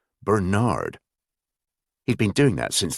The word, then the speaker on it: Bernard: than sir, but also insisted on pronouncing Bernard with a heavy emphasis on the second syllable, Bernard.